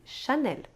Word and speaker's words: Chanel: Accor aquela famosa regionais quando a palavra se termina com l e isso também pode acontecer é o caso de L'Oréal e chanel de vez em quando